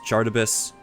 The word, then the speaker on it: Charybdis: I don't know how to fucking pronounce that word. Cardibus, Charybdis.